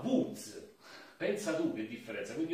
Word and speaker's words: Łódź: Nessuno mi capiva perché non si pronuncia Lodz e io non sapevo come cavolo mostrare, e quando poi finalmente ho mostrato come si chiamasse, loro mi hanno detto: ah, Woods, pensa tu che differenza.